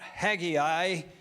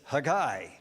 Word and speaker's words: Haggai: this particular book is it's not Haggai, it's Haggai, okay? All right, so you'll hear me pronounce it today, Haggai, not Haggai, but most of us probably grew up calling it Haggai, didn't we? Right. I don't know how that extra I got in there, but somehow or other